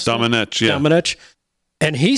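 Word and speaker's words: Domenech: Is that the way you pronounce it? Dominic, yeah.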